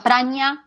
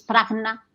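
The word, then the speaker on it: prajñā: A veces se pronuncia praña, a veces prajna, a veces prajna.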